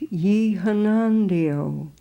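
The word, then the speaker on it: Yonnondio: And this is the way it seems it must be pronounced, Ye Hanandio, unlimbed, we disappear.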